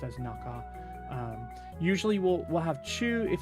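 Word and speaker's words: 中: So if it's all by itself, it can be pronounced either way.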